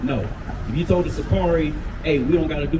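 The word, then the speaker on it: Sicarii: How do you pronounce it? Sakari, yep.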